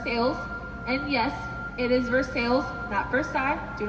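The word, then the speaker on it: Versailles: city of first sales and yes it is for sales that first time do not pronounce it for side they will make fun of you right here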